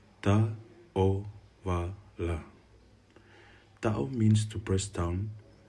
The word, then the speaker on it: Ta'ovala: It is pronounced Ta'ovala.